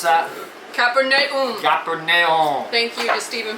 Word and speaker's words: Capernaum: tour guide guy said, "This is how you pronounce it. Capernaum. Capernaum." Capernaum. So it's Capernaum.